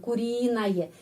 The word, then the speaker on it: куриное: Ya, di sini penakanan kurinaye. Jadi penekanan di sini huruf U ini pengucapannya A dan huruf Y ini pengucapannya Y. Kenapa? Karena sebelumnya ada huruf vokal, ada peraturan. Kalau sebelum huruf Y ada huruf vokal, pengucapannya seperti dalam alfabet ya.